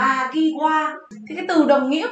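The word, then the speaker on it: 間際: Từ này đọc là Magiwa.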